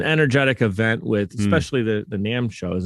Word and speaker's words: NAMM: event with, especially the NAMM show. Is it pronounced NAMM? I always forget how. Is it actually Correct. NAMM? That's right, because NAMM.